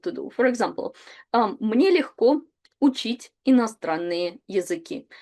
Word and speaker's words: легко: Then the next one is легко. And please pay attention to pronunciation where G is pronounced as H.